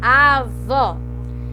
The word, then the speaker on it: avó: E eu sei que ela é oxítona porque a mais forte dela é a vó, certo? E vó tá aqui, ó, é a última, avó.